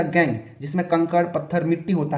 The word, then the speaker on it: gangue: अधात्री भी कहा जाता है, या इसी को गैंग भी कहा जाता है। ठीक है, स्पेलिंग होता है GANGUE।